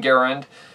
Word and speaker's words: Garand: out of an m1 garand which yes i pronounce it in one garand because that's the way the guy wants his